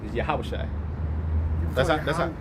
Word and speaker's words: Yahawashi: called Yeshua the name the name is yahawashi yeah yeah they say like that too yeah that's how that's that's the the true pronunciation but you know the